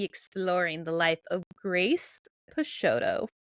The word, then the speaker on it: Peixotto: the life of Grace pesoto I think that's how you pronounce it pesoto um turns out that